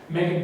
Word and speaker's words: Meghan: also have on display meghan who is pronounced megan duggan's hockey stick for